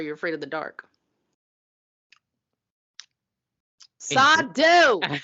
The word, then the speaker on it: Sardo: Sardo! No Mr. accent on the dough.